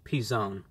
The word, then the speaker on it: P'Zone: kemudian tidak pernah mungkin tidak benar-benar terdengar seperti calzone tetapi seharusnya terdengar seperti P zone Ini sebenarnya P apostrophe